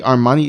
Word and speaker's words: Armani: Now, I still say Armani is in okay position, but I mean the army and the distance between the two are a lot more closer.